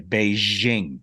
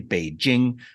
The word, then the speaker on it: Beijing: 99% say Beijing. Beiju it up, but it's actually Beijing. It's just straight J. There's no Z sound.